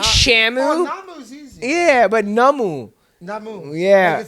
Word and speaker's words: Namu: is it an Emirates okay so it's n a m u h n n a m u so namu I'll see I thought it was uh it's like Shamu yeah but yeah how